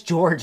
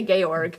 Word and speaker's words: Georg: one of the songs it says George in the captions yeah yeah no well that's how it's spelled but they say gorg cuz I I guess that's maybe German or something or a Austrian excuse me Austrian the Germans were not